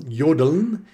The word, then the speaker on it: jodeln: And the word comes from jodeln, which means to utter the syllable yo. It looks like Joe when it's spelled out in English, but the German pronunciation of J is like our Y, yeah.